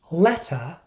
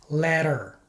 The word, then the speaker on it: letter: result of lazy speech as a general rule when T is between two vowels it is pronounced like a fast D sound to many Spanish speakers